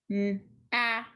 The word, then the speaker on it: gnat: The G is silent, so we're going to cross it out.